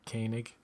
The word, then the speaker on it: Koenig: recent ones they had Walter Koenig that's how you say his last name right Koenig yeah that's how you